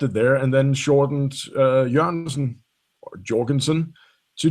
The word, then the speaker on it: Jørgensen: My real name is pronounced Jørgensen, which is Jørgensen. Okay, I fucked it up.